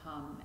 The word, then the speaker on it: Hum: hum on the exhale said to be the sound of the breath itself so try and blend